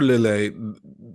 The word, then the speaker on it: Lillet: I was looking for lilay like and it's probably called lillette because titles usually end with the you pronounce the T or the s in French but I was looking